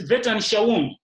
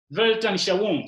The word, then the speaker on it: Weltanschauung: It's a German word, I can't pronounce it properly, but let me try. It's Weltanschauung. Weltanschauung.